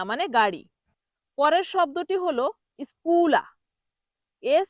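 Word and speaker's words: scuola: পরের শব্দটি হল স্কুলা। এস সি ইউ ও এল। এটার উচ্চারণ হবে স্কুলা।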